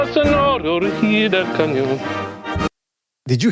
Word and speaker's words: sonoro: No, but shout out to Telekinese for that singing the It's actually kind of impressive how he pronounced that right. Which part? When he said al sonoro rugir del cañón, or when he said sonoro.